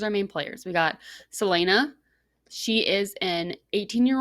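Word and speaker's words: Celaena: so the main character's name is okay it's selena selena right so it's not salinas it's called no it's selena but it's spelled c-e-l-a-e-n-a so that's fine i don't like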